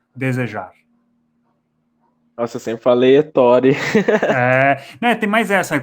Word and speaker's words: Ettore: Né, tem mais essa, como é italiano não tem acento, então dos 94 mil inscritos, eu imagino que menos de 1.000 sabem a pronúncia correta. Só provavelmente aqueles que conhecem um diretor de cinema chamado Ettore Scola. E eu também não fico falando o meu nome nos vídeos, né? Mas então a Sim. pronúncia correta é Ettore.